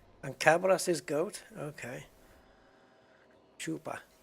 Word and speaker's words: Chupacabras: Chupa. Chupacabras. Okay, so then the CH is pronounced like sh. SH.